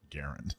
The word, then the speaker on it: Garand: that say, the T-shirt will say, actually, it's pronounced Garand. Yeah. Or is that nice and obnoxious? Or I like it. I beat Sam the Gunman. I like the it's pronounced Garand one because it's got more mass appeal in the gun world.